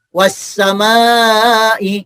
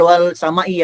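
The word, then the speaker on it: والسماء: Kita tahu ya, bacanya was-samai, bukan wal samai ya. Contoh lain. Nih, wat-tariq itu bacanya bukan wal tariq tuh. Was-samai, wat-tariq, tidak dibaca wal samai atau wal tariq.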